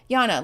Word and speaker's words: Jana: Oh, you pronounced it right. Jana, like Ghana. Okay, great.